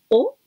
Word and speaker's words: を: O, wo, escribimos wo, pronunciamos o, ese es complemento directo.